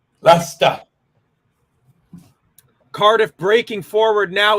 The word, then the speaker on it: Leicester: We got lots of folks from Leicester who put up content and they don't pronounce the R in the city name. Leicester.